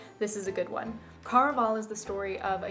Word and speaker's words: Caraval: I've listened to an interview with Stephanie Garber and she calls it Caraval, but I listened to the audiobook version and in that it is pronounced Caraval. I like Caraval better, even though obviously it's not what the author intended.